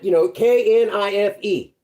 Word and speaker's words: knife: If you think about it, Knife. We pronounce it knife. The K is silent, they say.